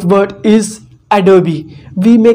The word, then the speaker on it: Adobe: premium pro but you don't know the right pronunciation of this company the right word is adobe we may call it adobe but this is wrong the right word is